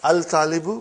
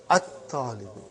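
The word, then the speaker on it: الطالب: Not al-talibu, but at-talibu.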